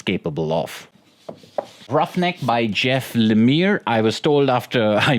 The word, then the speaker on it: Lemire: comics medium is capable of roughneck by Jeff Lemire I was told after I mispronounced his name in another video that it's pronounced in a mere roughneck by Jeff Lemire is a really good